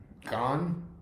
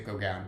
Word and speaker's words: Gaughan: was this, Norah and Gaughan, I think is how you pronounce it. I always pronounce it wrong because to me I want to say Gaughan, but that's not right.